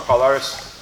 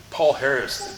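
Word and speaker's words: Palhares: good terms, Toquinho, Gusma Palares. It's funny, like, Palares is how you say his name. You're like, oh, he's a wannabe Brazilian. Paul Harris. You fucking don't speak Portuguese, man. It's not Paul Harris, but whatever.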